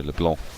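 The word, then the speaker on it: LeBlanc: pronounced correctly or well apparently there's a silent k so Leblon there's a Sil you mean there's a k that's just not there yeah like pneumonia but a k oh right I see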